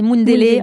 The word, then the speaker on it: Mundele: C'est un mot en lingala, ils disent, enfin, c'est Mundele en lingala.